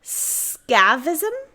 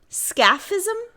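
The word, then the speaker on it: scaphism: attempt do your best sound it out scavism scafism s-c-a-p-h ism scafism yeah that sounds right it's an ancient form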